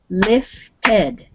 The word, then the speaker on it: lifted: word is lift and when you add the ed it's lifted so it's two syllables now lift it which